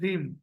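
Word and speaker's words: ह्रीं: आपको प्रोनाउंस करके बता रहा हूं मैं, HREEM, रीम।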